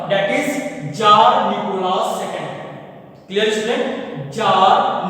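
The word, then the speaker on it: Tsar: Jar Nicolas second, इसको हम जार पढ़ेंगे. ठीक है ना, इट इज नॉट इज तजर. ठीक है ना, इसको तजर मत पढ़ना क्योंकि ये टी जो है ना वो साइलेंट है.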